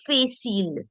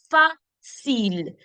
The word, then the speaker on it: facile: Understand that this will never be facile because the pronunciation of the alphabet A is A. So when I put F and R together, that's facile.